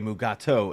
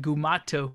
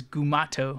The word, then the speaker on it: Gumato: they call it it's like a mugatu AKA mugato AKA gumato and they like list through like